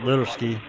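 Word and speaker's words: Litersky: Always pronounce it Littersky.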